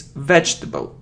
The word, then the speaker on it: vegetable: It's vegetable. Vegetable. So we say j and t, jt.